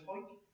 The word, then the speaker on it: Hawick: Don't ask how they come up with that, but it's known as Hawick in Northumberland.